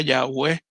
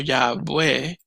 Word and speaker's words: Yahweh: Una tal vez pronunciación más real sería Yahweh, pero es interesante porque